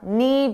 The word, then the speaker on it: knee: I said it was a knee jerk reaction. Let's talk about knee. Notice the K is silent. You don't hear it at all.